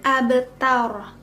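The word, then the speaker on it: أبتر: Kemudian abtar, Ro-nya di sini itu dibaca secara tafhim atau tebal. Kenapa? Karena ro di sini itu dia sukun oleh fathah. Huruf sebelumnya itu fathah.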